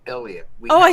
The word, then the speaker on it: Eleyet: wife musical Duo known for their musical group iset McConnell and we have them here today on the show thank you for coming we're so excited to chat with you today thank you uh it's actually pronounced Elliot we oh I said ellot oh my gosh